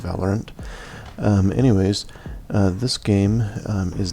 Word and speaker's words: Valorant: I've heard other people call it Valorant, but I think the official pronunciation is Valorant.